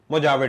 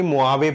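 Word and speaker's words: Mojave: मोनोरावन desert, सोनोरावन, मोजावे desert, actually मोआवे पढ़ते हैं, मोआवे, जे साइलेंट है, साउथ वेस्ट यूएसए में।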